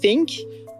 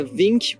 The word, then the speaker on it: think: De même pour think, qui prendra une prononciation non voisée think, plutôt qu'une prononciation voisée comme vink ou dink.